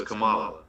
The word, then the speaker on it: Kamala: I know it's pronounced Kamala. Kamala. It's pronounced Kamala? Okay, because I saw this the other day. I brought it up. Huh? She's Shelly saying no. No. Not Kamala. So it's Kamala.